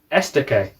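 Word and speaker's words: Estoque: was two lines uh okay there's the lamborghini esta k correct correct pronunciation as well um well this is the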